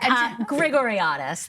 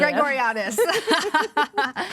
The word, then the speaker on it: Grigoriadis: Grigoriadis, thank you. Grigoriadis.